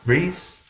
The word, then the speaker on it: Rhys: is from i'm picking the easiest names to pronounce it rhys reese s r r h y s rhys uh